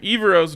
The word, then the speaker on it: Evero: the broncos youtube account he pronounced it by putting the accent on the second syllable or the second e just want to give